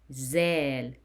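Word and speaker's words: ذال: Zal. Zal. And pronounced as Z in English.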